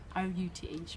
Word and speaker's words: Ruth: R-U-T-H, Ruth.